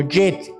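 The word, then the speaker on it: ח: Se pronunciaría como jet, como se pronuncia el nombre de los aviones, de los Boeing, el jet.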